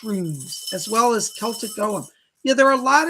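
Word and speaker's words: Ogham: But yes, I do know of the witch runes and the Celtic Golem as well. Or Ogum, some people pronounce it.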